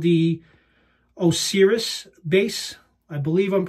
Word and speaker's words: Osiris: It's called the Osiris base. I believe I'm pronouncing that correctly.